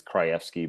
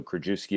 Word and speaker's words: Krajewski: If you were to say it right, it's Krajewski, but I'm not Polish, so Krajewski it is.